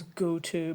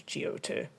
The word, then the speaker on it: GO2: Yeah, I also really know that it's pronounced as Goto, but come at me. I'm pronouncing as GO2.